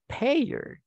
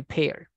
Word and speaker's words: pair: so in this case we cannot say payer because that is Spanish so we say pair so the same rule